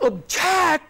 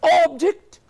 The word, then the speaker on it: object: I don't object to your proposal. Spelling's the same. But object, object.